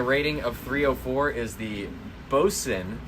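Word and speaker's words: Boatswain: of 304 is the boson it's spelled boat swing but it's boson that's what i would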